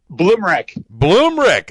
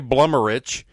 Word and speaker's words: Bloomrick: Bloomrick. All right, so it's better than I was going to say Blummerich. That's close. That's what everybody says. That's the Eastern Kentucky pronunciation.